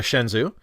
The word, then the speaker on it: Shenzhou: It's the Shenzhou.